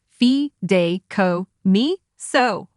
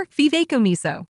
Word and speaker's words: fideicomiso: Canada or other countries this term is pronounced Fe Dayo miso or F miso let's say you were